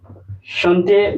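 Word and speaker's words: chanter: so therefore let's get started know how to pronounce this one first Shanti Shanti so that is Shanti Shante means to sing Shante that is to sing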